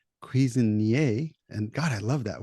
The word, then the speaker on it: Cuisinier: I'm and having a conversation with Stef Cuisinier, or Cuisinier, but in French it's Cuisinier.